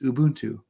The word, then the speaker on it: Ubuntu: looked it up and Ubuntu is a Zulu word pronounced Ubuntu I forget what we